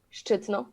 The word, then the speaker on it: Szczytno: And how do you pronounce that? Szczytno.